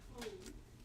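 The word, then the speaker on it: Cohen: Some are say cone. Like we have one system they call it this cone. And it's spelled like C-O-H-E-N.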